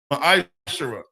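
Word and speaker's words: מעשר: It's pronounced ma'ashara.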